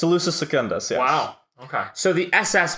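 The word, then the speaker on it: Salusa Secundus: was solution services centers elusive segundus I said it right it's elusive secundus Wow okay so the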